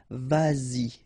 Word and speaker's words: vas-y: Same thing here, vas-y, vas-y, all right?